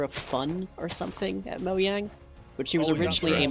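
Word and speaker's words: Mojang: is yeah is and the J is pronounced like a y moang w the a is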